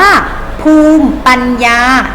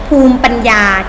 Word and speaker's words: ภูมิ: และ ศักดิ์ศรี นะ คะ ต่อ ไป คำ ว่า ภูมิ ปัญญา สังเกต ไหม คะ ไม่ ออก เสียง แต่ ละ อีก พอ ภูมอ ภูมิ ภูมิ ปัญญา เช่น ภูมิ ปัญญา ชาว บ้าน ใน การ เอา